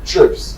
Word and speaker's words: Treeps: Uh you pronounce the word strips. Trips.